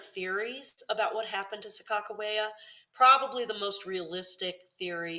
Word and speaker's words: Sacagawea: A lot of people say Sacagawea, but the native peoples tend to prefer the pronunciation Sakakawea now, with K's in the spelling.